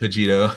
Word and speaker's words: Cogito: Cogito. Yep. Cogito, thank you.